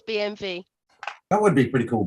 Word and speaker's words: BMW: BMW isn't called a BMW.